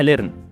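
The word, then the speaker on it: learn: مين اللي قالك على النطق ده؟ النطق ده غلط. اسمها ليرن.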